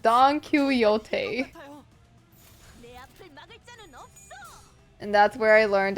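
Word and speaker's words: Don Quixote: like but that's not that's not how you pronounce the name it's donot I don't know I don't know thought I was Don kote sh this is odd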